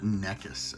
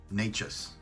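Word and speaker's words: Nečas: Couturier, Larkin, Cupquest, how do you pronounce his name? Nekas. It's not Nekas, as I recall. Nachas, I think.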